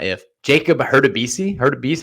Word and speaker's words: Hurtubise: They were Reese Hines, and please forgive me when I mispronounce this, not if. Jacob Hurtubise. Hurtubise, how do you say that? Hurtubise.